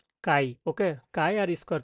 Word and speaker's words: chi: তো আমি যদি এটা বলি, তো এটার উচ্চারণ বাংলাতে আমরা এইভাবে বলি যে কাই।